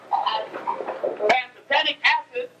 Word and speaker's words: pantothenic acid: Pantothenic acid.